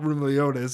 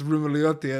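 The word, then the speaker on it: Roumeliotis: interview once with someone and they were Greek and they were like, you were saying your name wrong the whole time. It's not Rumeliotis, it's Rumeliotti. And like I was like, yeah, technically, but I find that pretty amazing as well.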